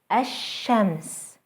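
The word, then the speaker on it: الشمس: by a sun letter ashems ashams notice how the sun letter is doubled and how the l sound is lost now let's take a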